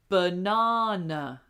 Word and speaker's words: banana: So, the whole word goes banana. Banana. So, we have that long sound in the middle, that R, but either side of that is uh banana.